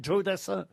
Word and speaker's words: Joe Dassin: l'américaine joe dassin américain joe c'est pas jo c'est pas un prénom français voyez ce que je veux dire donc ça se prononce à l'américaine joe dassin ce que jules dassin